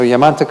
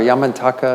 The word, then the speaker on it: Yamantaka: So Yamantaka or Yamantaka, it's pronounced differently by different practitioners, but this is actually a tantric deity in highest yoga tantra, which is the fourth class of tantra.